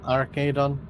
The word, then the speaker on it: Arcadon: But it's Arcadon, yeah? That's how you pronounce it? Yep, Arcadon.